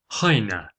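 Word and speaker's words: Chojna: no longer called kbur in Dumar it's called Hina and it's spelled c h o j n a a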